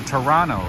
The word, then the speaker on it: Toronto: Oh, apparently the right way to say it, the right way to say it is a Toronto, right? You guys don't pronounce the T.